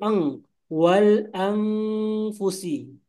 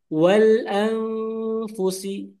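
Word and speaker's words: وَالْأَنْفُسِ: Yang salah itu berubah jadi eng wal anfusi. Jadi sebenarnya yang kita pelajari itu bersama Mtada Masiah semua huruf ikhfa itu bukan eng ya tapi samar dan lidahnya langsung ke makhraj huruf tersebut. Misalnya tadi makhrajnya adalah huruf apa? Huruf ta misalnya. Jadi Oh huruf fa ya. Fa i wal langsung ke fa. Fa fa itu kan bibir gigi gigi dari atas nempel ke bibir bawah kan ya.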